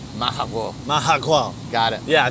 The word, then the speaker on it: Majagual: And It's pronounced weird, man. You want to try and do it? Let's do it. All right, so it's something like a cat, like majagual. Majagual.